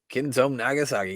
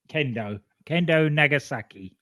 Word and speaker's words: Kendo Nagasaki: Kenzo Nagasaki. He can't be stopped. Did I say it right that time? Kendo Nagasaki.